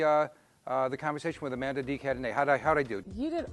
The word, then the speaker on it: Amanda de Cadenet: to watch the uh uh the conversation with amanda d cadeny how'd i do you did awesome and you pronounced my name beautifully thank you john all